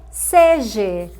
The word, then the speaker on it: seja: Seja feliz e não seja. Seja doesn't exist. Com a vogal E é errado, incorreto. A forma correta, the correct way to say is seja.